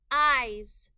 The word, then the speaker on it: eyes: Eyes. I-Z. Eyes. The E-Y-E we need to remember by heart. The S is making a Z sound.